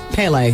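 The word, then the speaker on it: Pelé: Brazilian football legend Peele P yes P that's how you pronounce it yes I'm sorry P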